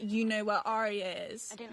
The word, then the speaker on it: Arya: It's like, Arya. But it's not Arya, it's Arya. It's just Arya. Arya. Like 2 syllables.